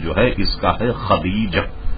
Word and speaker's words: خدیجہ: لوگ غلط کرتے ہیں، خدیجہ اور جانے کیا کیا، تو اس کے صحیح تلفظ جو ہے اس کا ہے خدیجہ، خدیجہ یہ اس کا تلفظ ہے.